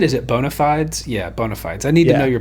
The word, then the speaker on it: bona fides: Yeah, bona fides.